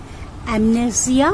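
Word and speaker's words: amnesia: উচ্চারণটা মোটামুটি আমি একটা লিখে দিয়েছি এস এর উচ্চারণটা জ এর মাঝামাঝি হবে অ্যামনেজিয়া অথবা অ্যামনেজা অ্যামনেজা ক্লিয়ার মনে রাখার ক্ষমতা কমে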